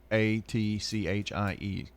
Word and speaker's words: Sequatchie: Well, the pronunciation, I guess the E is left out. But Sequatchie.